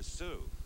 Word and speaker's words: Est: that's East E EST T is silent West it's not on